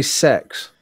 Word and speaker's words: CEX: God, they want me to say sex. CEX. Pronounce They apparently don't sex. want you to say sex. You want to say sex. No, that's what. That's what they actually call their company.